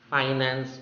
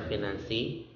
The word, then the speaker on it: finance: Next, finance or finance. Finance or financy. It could be with a lowercase I with a maker, or it could be the sound.